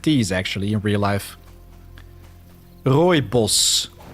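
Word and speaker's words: Rooibos: Royos. That's how you would pronounce it. It's Dutch.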